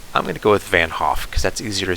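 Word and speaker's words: van 't Hoff: equation that is called the uh van hoff i think that's how it's pronounced i don't think you pronounce the t i don't think it's the vant hoff but maybe it is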